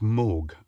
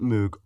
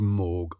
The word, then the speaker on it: Moog: It's pronounced Moog. Oh, right, so it wasn't Moog or Mog, it's Moog.